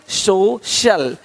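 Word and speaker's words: social: अब देखो, यदि सी के आगे आई ए हो तो सी का उच्चारण श होता है। क्या होता है? श होता है। क्या लिखा हमने? सोशल, सोशल, सोशल। तो यहाँ पे शल हो रहा है, सोशल, है ना?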